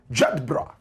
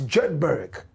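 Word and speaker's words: Jedburgh: They claim that a certain part of Scotland which is called Jedbra if you don't know the pronunciation too well you might pronounce it as Jedberg but you know how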